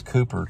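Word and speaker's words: Cowper: heard of his poetry they call him calper but he was known as Cooper too spelled like Cooper and so he published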